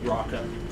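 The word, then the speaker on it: Rawka: My name is Raka. I spell that Speaking in common. R-A-W-K-A. Raka.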